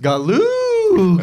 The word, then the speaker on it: Galuga: You're pronouncing it wrong, Blood. It's pronounced Galuga.